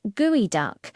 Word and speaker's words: geoduck: For centuries, the gooey duck, pronounced gooey duck, was a well-kept secret of the Pacific Northwest coast of North America.